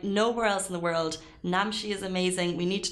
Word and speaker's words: Namshi: Now, Namshi is so efficient. I love how you say Namshi. Namshi. Namshi.